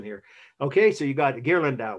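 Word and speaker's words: Ghirlandaio: okay so you got gear lindau was his name it's how you say it in italian okay let's wrap up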